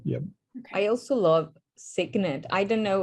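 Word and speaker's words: Cygnet: I also love Signet. I don't know how to pronounce it. It's like Signet. Like a baby swan signet?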